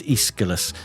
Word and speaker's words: Aeschylus: I mean, it shows that sort of Aeschylus, thing. yeah. Oh, well done, Quite hard to pronounce. It's Aeschylus, Greek playwright, yeah.